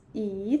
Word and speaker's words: 椅: Yeah, you can feel that 椅 third tone actually is a low tone. Yeah, 椅子. Even the neutral tone is higher than the third tone.